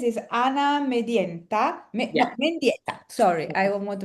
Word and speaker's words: Mendieta: No, Mendieta. Sorry, I don't want to mispronounce.